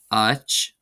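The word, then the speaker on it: áit: Then we have the word Ach, which means place, and it's just we saw the word earlier which was spelled the same but without the accent mark. So this is just pronounced slightly longer.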